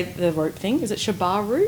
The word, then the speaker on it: Shibari: Is it Shibari? Shibari.